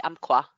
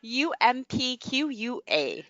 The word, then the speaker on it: Umpqua: Becky says she grew up in the 100 valleys of the Umpqua. Good luck. That would be my try at that. Spelled UMPQUA, Cheryl.